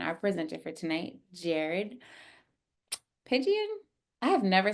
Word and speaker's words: Pigeon: presenter for tonight, Jered Pigeon. I have never said your last name. Is that how you say it? That is correct. Just like the bird, even spelled the same.